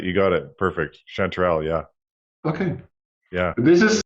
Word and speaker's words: chanterelle: must be the English name how do you pronounce it yeah that's right you got it perfect chanterelle yeah okay yeah this is my whole family